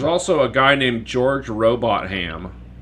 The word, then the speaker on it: Robotham: There's also a guy named George Robot Ham, which I think is pronounced Robotham, but I like Robot Ham better.